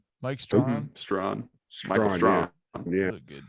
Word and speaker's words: Strachan: Strawn. Michael Strawn. Yeah. Look good too. It looks like Strachan. Yeah, I know. Or Strahan. Yeah. But it ain't.